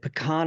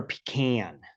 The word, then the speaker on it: pecan: had pick is it pecan or pecan it's pecan pecan is Georgia pecan is Texas it all depends on where you're from from it with how it's pronounced and your education level yeah yeah if you're